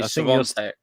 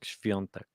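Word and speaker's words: Świątek: It sounds a little bit like you're doing like that type of sound, like shv. It's like it sounds like an SCHV is the beginning. Is how I would imagine it in my mind, like shv, like Sviontek.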